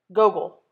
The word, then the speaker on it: Gogol: The way the principal pronounces his new name is different from the way his parents say it. The second part of it longer, sounding like heel.